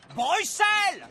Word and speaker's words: Bruxelles: votre royal palais et on prononce bruxelles c'est cette histoire de x ça porte à confusion